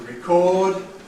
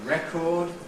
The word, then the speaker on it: record: To record, but for now a record. Notice the effect of causing the stress to come on the first syllable, changes from I to e, record.